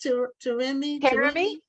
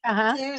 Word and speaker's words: Terumi: Your name is pronounced Terumi. Terumi? Terumi. Okay, so Terumi. the Like accent Jeremy is with on a T. the tail. Yeah. Okay, Terumi.